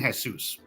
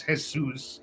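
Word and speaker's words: Jesús: not when they say they're not saying Jesus they're saying Jesus all right um it's spelled the same way my name is hesus it's a very common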